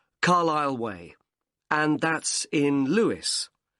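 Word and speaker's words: Carlisle: and your address 45 carile way could you spell carile for me sorry it's c a r l i s l e you don't pronounce the S carile way and that's in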